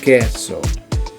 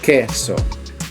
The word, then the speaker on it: queso: Cheese in Spanish is queso, queso. So, Q. Alright, that's how you say it, queso. Alright, as you notice, k has a k sound.